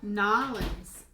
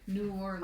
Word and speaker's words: New Orleans: Nolans. No. Nolans. Nice. Yeah, it's like one of those things that you're not from around here. You call it New Orleans.